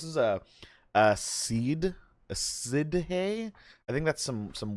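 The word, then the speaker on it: sidhe: some some welsh stuff how to pronounce siddhi she s-i-d-h-e she apparently it is it's irish gaelic ay it's uh was used in um uh the dresden files apparently several times it's she i'm playing as a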